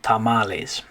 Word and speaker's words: tamales: look at this word when we say that is females we don't say females right but since this one came from spanish we just kind of adopted that pronunciation tamales okay all right this